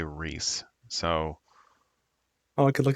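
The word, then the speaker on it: Rhys: It's Rays, right? Or Rise? I thought Rays. it was Reese. I thought it was Is it pronounced Reese? Reese.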